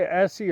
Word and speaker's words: Etsy: on Essie also and when I say Essie everybody how where's Essie what's Essie e is in Eddie T is in Tom S is in Sam and Y is in yarn that's how you spell it e TS y you